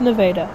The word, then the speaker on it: Nevada: Welcome to Nevada, Iowa. Yes, the town is pronounced Nevada.